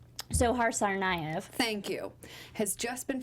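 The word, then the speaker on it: Dzhokhar Tsarnaev: now it's official that how we pronounce his name sohar tsarnaev thank you has just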